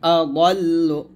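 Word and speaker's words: أضل: তারপরে ওয়ামান আদাল্লু, ওয়ামান এখানে গুণ হবে না, ওয়ামান আদাল্লু, আদাল্লু এর দদ উচ্চারণ এমনভাবে করবেন যেন এটা দাল না হয়ে যায়, আদাল্লু। ওয়ামান আদাল্লু মিম্মান ইয়াদউ মিন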